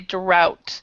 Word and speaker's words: drought: good very good pronunciation we say drout so this this th is not pronounced drought okay so so